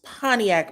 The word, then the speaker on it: Pontiac: I said it wrong before. It's Pontiac, Michigan and it's actually Scott one and 2.0.